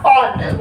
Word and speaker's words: one: और इसका नेम इसको प्रोनाउंस करते हैं हम ONE ऑन, 1 नहीं ONE ऑन, this is ONE ऑन, 1 नहीं पढ़ते हैं दीदी आप अभी ONE